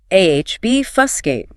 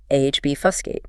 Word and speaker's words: obfuscate: AHB, fusscate. Stress on the first syllable. AHB, fusscate.